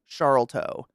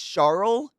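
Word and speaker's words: Sharlto: It's SH, it's like Charlto. Charto. Is it literally Charto? Like Chart? It's Charlto.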